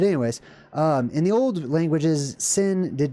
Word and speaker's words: Sin: Sometimes it was just pronounced with the regular old s sound. Sin.